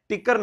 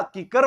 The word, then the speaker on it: कीकर: बेटा मंदिर होता है टिकर नहीं होता कीकर होता है रे मेरा लाडला मेरा